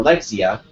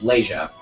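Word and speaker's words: Leixia: got the true name I got the true pronunciation of Leia when I used to call her Lexia because of the way the name looked but turns out it's Leah she uh uses a leather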